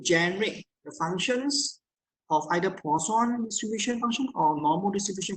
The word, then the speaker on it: Poisson: We call Poisson. It's a French pronunciation.